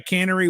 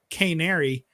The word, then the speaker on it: Canary: what that meant I didn't know what a cannery was but I was like well I guess